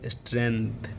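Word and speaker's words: strength: लिए उसके बाद क्या स्ट्रेंथ स्ट्रेंथ लि स्टें है छोटा इसको फिर से लिख बता दू आपको पर ख बताता कैसे लिखा गया स्ट्रेंथ पढ़ते साट कर लेते लेकिन जी साइलेंट नहीं है स्ट्रेंथ ऐसे ही वर्ड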